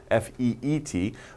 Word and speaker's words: feat: pal anio not feet f-e-e-t but feet f-e-a-t pronunciation is the same as feet right but feet means